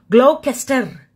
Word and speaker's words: Gloucester: Pronouncing the G? Gloucester.